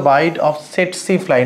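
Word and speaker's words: tsetse: through the byte of সেট সি ফ্লাই নামটা লক্ষ্য করো টি এসি টি এসি এটার উচ্চারণটা হচ্ছে সেট সি ফ্লাই এখানে ছবি দেওয়া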